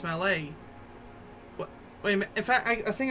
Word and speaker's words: Mallet: the old malet types even though you spell like Mallet like what Amy Rose swings at Sonic her Mallet Hammer well it's pronounced Malay wait in fact I